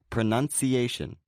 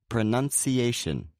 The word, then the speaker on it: pronunciation: such as the word pronunciation. It may seem as though this word has two stresses, but the A is the main stress and the U is the secondary stress. So once again, that's pronunciation.